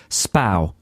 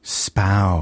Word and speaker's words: Spui: It's pronounced Spau. Spow. It's spelt Spui, so, you know, to know that it's pronounced Spau and then go to Amsterdam is kind of useless because you'll never find it.